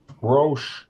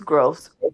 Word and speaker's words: Gross: city of Detroit versus China Ro did I get pronunciation correct ma'am it's gross gross case number sp15 7968